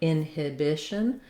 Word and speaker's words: inhibition: a clear difference that you're not going to be stressing on that second syllable in inhibition but rather your length and your stress is on the bish syllable and then we end